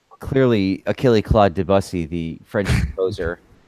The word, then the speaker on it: Debussy: I mean, I hate to give it away here, but it's clearly Achille Claude Debussy, the French composer. Debussy.